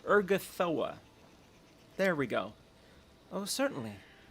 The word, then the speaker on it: Urgathoa: What do you know of Uragotha herself? I don't know how to pronounce her fucking name. Urgathoa.